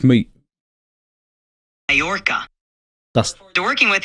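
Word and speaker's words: Mallorca: How do you pronounce Morca? It's me. Morca.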